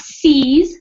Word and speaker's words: seize: So this word, which is hard to pronounce here, or to know how to pronounce it, seize. So we don't worry about the I, it's just the E sound, seize.